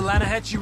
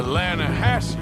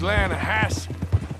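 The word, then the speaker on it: Lannahechee: The other day, I rode down to the Lan a Hechi River. I caught some beautiful steelhead trout. You mean the Lana Hatchi River.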